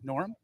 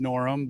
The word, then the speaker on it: Norum: I mean, it's pronounced Norum, but it's Norum. I thought you said Sorry, Norm. I mispronounced it. I always tell people Norum. it's spelled no rum, like I shouldn't touch the Oh, stuff.